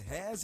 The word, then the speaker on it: Heirs: Hares is spelled HEIRS.